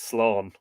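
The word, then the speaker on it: sleaghan: the last in the diminutive form slion are pronounced Sloan is used at present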